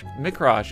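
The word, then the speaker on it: Mi'raj: spiritual journey known as, you pronounce it the Mikraj, after completing Isra, a different journey to the farthest mosque in the same night.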